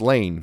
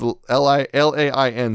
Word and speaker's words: Lain: And we're going to be talking about Serial Experiments Lane. Finally going into Lane. Lane. I don't know. It's Lain.